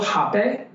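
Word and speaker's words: rapé: I said, do you mind if I give you a little hape? Something we work with is something called hape, spelled with an R-A-P-E with an accent.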